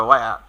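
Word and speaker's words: where: অন মাই ওয়ে to college question করবো তাহলে হোয়ার দিয়ে বা ওয়ার, জানো না সঠিক উচ্চারণটা ওয়ার।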